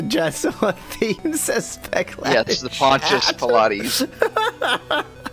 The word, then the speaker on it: Pontius Pilate: be right it's you yes it's usually pronounced Pontius Pilate yes well that's dumb